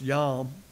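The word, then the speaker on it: יום: by the way the Hebrew word pronounced yam transliterated Yom which is used here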